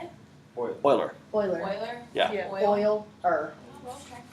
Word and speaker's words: Euler: Oiler?